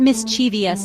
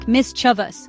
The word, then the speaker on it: mischievous: The biggest trap here is that extra syllable people throw in. It's not mischievous. No way, no how. We got to streamline it. Make it sleek. Mischous. Boom. Three syllables done.